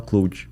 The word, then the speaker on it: Claude: ele é que ele ele é Claude que se escreve mas ele é francês daí tu que sabe falar francês me falaram assim ah isso aqui tem que falar cloue é se é Claude